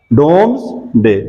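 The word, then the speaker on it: Domesday: The collection of टैक्स, डोम्सडे, डोम्सडे, मैं spelling लिख देता हूं, DOMES, यहां पे ऊपर देख लें, डोम्सडे।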